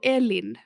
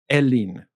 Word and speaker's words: Elin: to say my name it's kind of like El kind of like like like when you start elephant and then you move into Ian kind of like Sheen so Ellen Ellen yeah it's pretty good